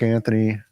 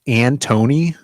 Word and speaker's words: Antony: Isn't it pronounced Antony? Anton. There's no H there.